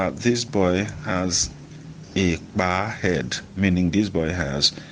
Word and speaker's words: kpaa: So the two are spelled the same but are pronounced differently based on the stress marks on them.